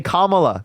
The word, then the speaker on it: Kamala: Chamilia now when camia Dude say Kamala Kamala you got thises president she's GNA you make yourself look very very very intelligent when you say her name wrong you look so intelligent